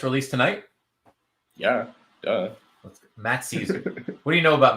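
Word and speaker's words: Szczur: But yeah, it's Caesar like the king.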